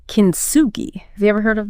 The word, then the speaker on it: kintsugi: And she mentions this Japanese art form called kintsugi.